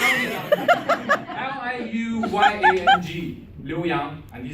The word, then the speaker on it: Liu Yang: I said, Liu Yang. And he said, why don't you use it? I said, because you guys couldn't pronounce it.